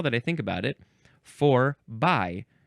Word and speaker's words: forby: We have the word in English, by. We also have the word in English, bye, both pronounced by. Bye-bye. Forby. So that's what this is. It's a preposition from the 14th century. If this word had been spelled Forbie, then it would have been forby.